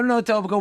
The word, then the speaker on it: Etobicoke: No, Etobicoke.